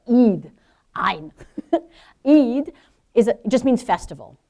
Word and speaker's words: Eid: Eid in Arabic. Ei. Sometimes you'll say it like an apostrophe ei because it's an in Arabic. That word is that letter is in. And so you say at the very back of your throat.